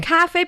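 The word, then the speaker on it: 咖啡: Not because of the ka or the fe. It's the tones. It's a little higher, right?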